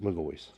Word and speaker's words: McGaughys: symbols or it's just MGO very simple so if you have a question about that that is that is how you say it so I'll show you